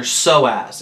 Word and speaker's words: psoas: you're hearing is actually a muscle called your soaz it's spelled PS o a s it's your hip flexor